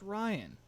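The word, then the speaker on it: Rion: you pronounce your name RI o n it's pronounced Ryan but don't worry also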